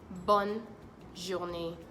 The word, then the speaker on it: bonne journée: someone a nice day you could also say bonne journee bonne journee bonne journee bonne journee say with